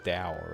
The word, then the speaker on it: Tao: Now, correct me if I'm wrong, but that's not actually pronounced like Tao. It's Dao, right?